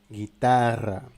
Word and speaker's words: guitarra: Et finalement, comme en français, avec un "g" et "u", la prononciation c'est "gue". Par exemple, dans le mot guitarra guitare.